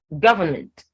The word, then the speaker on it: government: in the word government government if you try to hum it you'd say so the god takes the stress that is the stress